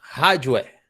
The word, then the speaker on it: hardware: Então é hardware, tá?